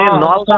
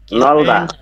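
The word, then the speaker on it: 넓다: বাচ্চিম আছে বাকি সবগুলোর প্রথমটার উচ্চারণ হবে, দ্বিতীয়টার উচ্চারণ হবে না। তাহলে এখানে রিউল বিয়োগ আছে, কোনটার হবে কোনটার হবে না? এখানে নলদা হবে, নলদা। বিয়োগের হবে না, বুঝেছেন? এখানে হবে নলদা। নলদা।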